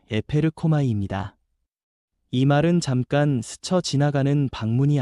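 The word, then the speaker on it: ἐπέρχομαι: 여기서 성령이 임하신다는 말은 헬라어 발음으로 에페르코마이입니다.이 말은 잠깐 스쳐 지나가는 방문이 아니라 이에서부터 실제로 덮치듯 임하여 삶을 바꾸는 능동적인 역사라는 뜻입니다.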